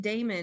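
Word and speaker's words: dæmon: I always pronounced it Damon in my head because it's got that AE instead of just e but when I did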